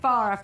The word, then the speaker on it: Farah: Just wanted to make sure I pronounced your name correctly there Yeah, that's right. Farah Farah.